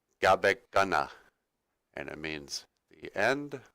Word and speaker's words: Gabekana: where that is but Cabo Kona is actually just sort of a mispronunciation of Gabon Ghana and it means the